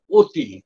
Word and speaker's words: অতি: অই আছে এরকমভাবে যেমন অতি অতি কথাটার মধ্যে অ আছে বানানে কিন্তু উচ্চারণ করি আমরা ও বুঝতে পারতিটা হচ্ছে মুক্ত